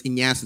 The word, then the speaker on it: Ignacio: So it's Ignacio. The G is silent, right? The G is silent.